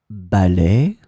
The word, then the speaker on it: ballet: In this lesson, we will see together two words that are written differently but pronounced the same way. Ballet, ballet.